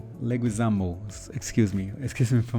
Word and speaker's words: Leguizamo: have um Travis Scott, but anyway, uh John Leuisano, Leguisamo, excuse me. Excuse me for my my pronunciate pronunciation also.